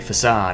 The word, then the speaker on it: facade: I've been calling it aid but it's actually facade also when I was really young um I pronounced cut like the move to cut as